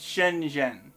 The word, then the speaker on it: Shenzhen: you a little shortcut it's shenzhen shenzhen i should have known that because i know how that that syllable works you know like you're talking to your best friend jen and well then you're